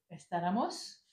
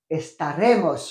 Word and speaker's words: estaremos: nous serons serons euh estaramos alors attention estamos non non estar oui tu l' c'est la prononciation qui m'a gêné estaramos estaremos ah estaremos he ah ou c'est un